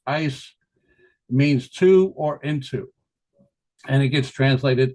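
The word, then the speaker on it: εἰς: Faith or belief and that's ice all right it's pronounced ice means to or into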